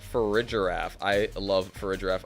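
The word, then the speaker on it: Farigiraf: love for a giraffe I pronounced for a giraffe uh for uh not I pronounce it for Ridge rep and that for rig garaf I have seen a giraffe in my life I've never seen a graph so if anyone can please um point me to a graph I will start pronouncing it for a graph like most people do but to me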